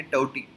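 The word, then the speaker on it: Tauktae: अब देखिए, अगर हम कॉन्टेक्स्ट देखते हैं तो हमें जो साइक्लोन है टौटी, ये देखने को मिल रहा है। इसको प्रोनाउंसिएशन बेसिकली टौटी इस तरीके से किया जाता है, भले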